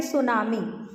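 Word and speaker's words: tsunami: की आवश्यकता नहीं होती जैसे कि आप देखिए सुनामी सुनामी अगर आप कह रहे हो तो उसकी एस यू से शुरू होना चाहिए लेकिन सुनामी की स्पेलिंग कहां से शुरू होती है टी से है ना तो ऐसे बहुत सारे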